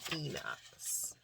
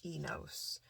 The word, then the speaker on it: Enos: really speak to anything in particular besides confirming Enos, or Enos. As in, King James Version says that Seth's son's name is spelled E-N-O-S, no H.